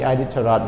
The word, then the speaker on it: Iditarod: our lesson today is the how do you pronounce it everyone okay we say the ID taro D a datura the Iditarod race right again the Iditarod race what is